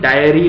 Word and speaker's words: diary: हमारे को क्लेरिटी मिलेगी डायरी स्पेलिंग इसकी होती है डी आई ए आर वाई डायरी इसकी इसकी प्रोनंसिएशन डायरी रहेगी वेर एज पहले वाले शब्द की प्रोनंसिएशन रहेगी डेरी ऑलराइट सो डायरी का